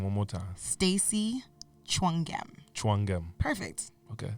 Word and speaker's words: Tchouanguem: It's Tchouanguem. When you look at it, it looks like 5,000 letters, but it's 11. All right, say your whole name one more time. Stacy Tchouanguem. Tchouanguem.